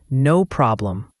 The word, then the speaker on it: no problem: Notice the clear O in no. For problem, the O sound is like in hot, and the M at the end is clearly pronounced, closing your lips. No problem.